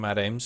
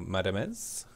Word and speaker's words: Madamez: Kaya Games from Madame's still going, or Madamez, as I'm being told it's apparently pronounced.